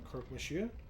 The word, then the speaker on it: Croque monsieur: Croque monsieur? Is just pronounced like croak. Like what a frog does?